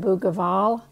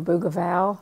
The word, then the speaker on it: Bougival: And I pulled both the original image up, Dance at Bougival, or Bougival, Bougival, I think is how it's pronounced, and then my picture.